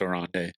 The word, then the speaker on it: Oronde: Don't want to try to pronounce his first name a second time. I'm pretty sure it's Oronde. One thing you'll love about him, he's son of former NFL wide receiver Oronde Gadsden Sr.